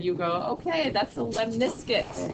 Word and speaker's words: lemniscate: So when you see R squared, you go, okay, that's a lemniscate. Lemniscate. That's how you spell it. Lemon biscuit. It just sounds kind of like a lemon biscuit.